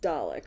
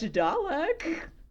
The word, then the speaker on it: Dalek: Please remind me it's pronounced Dalek, right? Dalek.